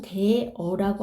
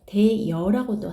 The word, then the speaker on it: 되어: 대어라는 말이 있어요. 근데 발음상으로는 대어라고 하는 게 원칙이에요. 이게 원칙이지만 허용되는 것도 있어요. 표준 발음으로요. 대여라고도 해요. 대여도 돼요. 대어도 되고 대여도 돼요.